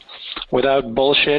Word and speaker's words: Without Bullshit: Josh joins us today as the chief troublemaker of WOBs, without bullshit is the correct pronunciation, so we've learned in the social sphere after some testing we did.